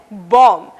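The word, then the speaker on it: bomb: पहला उदाहरण है बॉम्ब। इस शब्द में आखिर का बी साइलेंट है, यानी कि खामोश है।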